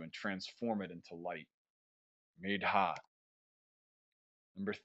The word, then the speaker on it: medha: Sanskrit, medha, medha. So this H here is pronounced. So it's medha, long A.